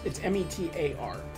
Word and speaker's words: METAR: Or pardon me, I said it wrong. It's METAR.